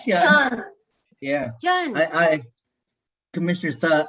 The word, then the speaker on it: Hyun: It's Hyun. Yeah. Hyun. I Commissioner Suh, I actually grew up with everyone calling it Hune or Hun, or it was hard for people to pronounce Hyun.